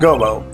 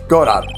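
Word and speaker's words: Godot: It's not Gobo. It's God, your honor.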